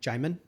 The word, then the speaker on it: Djimon: Jamin Hansu? Jamin, is that how you pronounce it? Because I spelled his first name, Djimon, but how do you say it? Jamin.